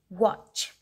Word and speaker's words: watch: okay next word is watch w a t c h here t is silent so watch next word